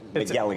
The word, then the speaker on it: McElligott: McElligott. It's shockingly phonetic.